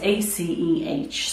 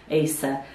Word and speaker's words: Aceh: So nobody knew how to pronounce it, Asa, but I actually Googled it, and it's from Indonesia, and it's a place called Aceh. So it's actually Aceh, the Hoya Aceh.